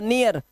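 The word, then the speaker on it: near: जब किसी वर्ड में ए इ आएगा और सॉरी इ ए आएगा और इ ए के बाद आपको आर दिखाई देगा। उच्चारण इया करना है।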